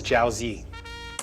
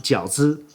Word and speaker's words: jiaozi: see let's start folding some dumplings this is zhao zee what'd he say what'd he say this is zhao zee jose what is this white people pronunciation right uncle roger it should be pronounced jiaozi correct why he's so white he's not even